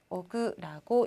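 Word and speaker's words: 億: 읽을 때는요. 오그라고 읽으면 됩니다. 그래서 이지오그, 니오그 이런 식으로 되겠죠?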